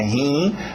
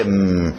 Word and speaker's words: him: Cuidado com esse I, não coloca meus rins aqui na história, não é rim, é him, não é ham, presunto, família dos as,